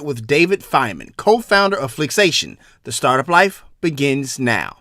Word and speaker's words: Flixation: Did I pronounce that right? Flixation? Flixation.